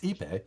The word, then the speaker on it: ipe: Tony pronounced Ipe, which I said right.